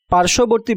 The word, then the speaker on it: পার্শ্ববর্তী: পার্শ্ববর্তী বানানে তালব্যয়ে রেফের সাথে বফলা থাকায় বফলার উচ্চারণ হবে না।